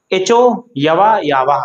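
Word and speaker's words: एचोऽयवायावः: क्या उच्चारण होगा इसका? एचो यवा यावा, साथ में बोलिए, एचो यवा यावा, एचो यवा यावा। लिखेंगे कैसे? एचो यवा यावह। क्या लिखा हुआ है? एचो यवा यावह। इसका उच्चारण मैं बार बार इसलिए कर रहा हूं ताकि आप इसको शुद्ध उच्चारित कर पाए।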